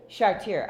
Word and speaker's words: Chartier: Chartier. Well, I pronounce it the French way.